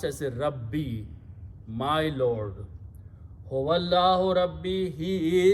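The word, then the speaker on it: رَبِّي: When you combine these, it's pronounced as a Rabbi, my Lord.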